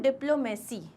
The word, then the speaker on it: diplomacy: लेकिन इसको भी pronounce कहाँ करते हैं हम? Diplomacy.